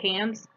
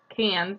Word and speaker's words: Cannes: Lip Liner in the shade, I may be pronouncing this wrong, but it looks like Cannes.